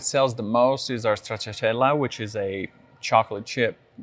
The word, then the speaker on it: Stracciatella: Stracciatella.